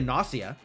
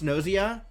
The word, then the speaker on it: Gnosia: Thought it would be NS rhymes with floss. Oh, okay. Yeah, it could be a Nosia.